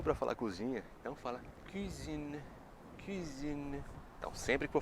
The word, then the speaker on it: cuisine: Agora a dica, quando for falar cozinha, tá? Lembra o seguinte, o que você faz geralmente na cozinha? Comida, né? Comida para quê? Para comer. Comer com o quê? Com a boca, né? A boca precisa da boca para comer. E na boca me lembra do quê? Do biquinho do francês.